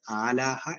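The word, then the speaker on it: ܐܠܗܐ: ആലാഹക്ക് മറ്റൊരു പ്രത്യേകത കൂടിയുണ്ട് അലാഹ എന്നാണ് എഴുതിയിരിക്കുന്നതെങ്കിലും അത് ഉച്ചരിക്കേണ്ടത് ആലാഹ എന്നായിരിക്കും അത് ആലാഹ എന്ന വാക്ക്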